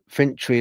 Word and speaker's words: Fintry: Scotland a few months ago this happened uh fintry is spelled f i n t r y in